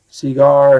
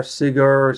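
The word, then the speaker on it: Segar: comic of EC Seager cigar seagar cigar how you want I think it's cigar or seagar because he signs he put a little cigar on his signature so that's how I'm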